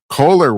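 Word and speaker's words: Kohler: And finally, oh my God, the Koehler company, or is it pronounced Koehler? I think it's Koehler, excuse me. It's pronounced Koehler.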